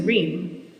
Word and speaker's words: Reem: country could actually pronounce my sister's name is Reem and minimally some people are too dumb to get that one right as well but it's a lot easier it's like a ream of paper and then they